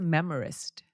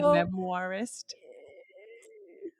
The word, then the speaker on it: memoirist: is that more what it is not memor but memoirist yeah so what it